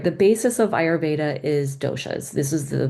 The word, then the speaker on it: Ayurveda: A lot of people have trouble pronouncing it, so I put this like phonetic spelling here, Ayurveda.